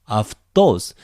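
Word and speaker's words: αὐτός: It's another diphthong. It becomes either af or av. In this case, it is followed by a consonant d. So it naturally becomes af. Aftos. There's another accent, aftos. So we have to pronounce aftos here, the stress.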